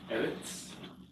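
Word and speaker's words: ארץ: Eretz. Okay, very good. Very good. You got the accent on the first syllable, right?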